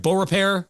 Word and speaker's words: Beaurepaire: Did I pronounce it right? Beaurepaire?